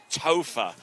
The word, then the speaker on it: Topher: Topher. I love that name. Rhymes with gopher.